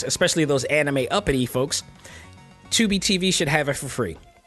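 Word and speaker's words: Tubi: go check that and 2b is spelled t-u-b-i i just want to point it out because i'm sure nobody it sounds like you would know but you probably say t-u-b-b-y but no it's t-u-b-i and they got commercials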